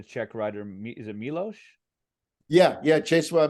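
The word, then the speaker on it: Miłosz: everything was erased you um I'm probably gonna butcher the the check writer me is it milosh yeah yeah Chase what I mean so the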